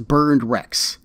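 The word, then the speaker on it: Berndrecht: himself his name is burned rex and that is spelled b-e-r-n-d r-e-c-h-t and no i have no clue what that is supposed to mean like this literally just sounds like burned wrecks as in those exploded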